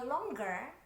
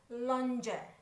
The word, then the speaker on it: longer: stronger Hai Nah kalau longgar ada dan banyak bahkan yang nyebut lonjer Nah lo emang pempek lenjer jangan juga ya Jadi yang benar